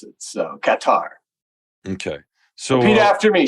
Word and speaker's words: Qatar: the pronunciation whether it's guitar or as locals say cutter yeah I I think it is actually Qatar so cat R the because the t is part of the first syllable um at least that's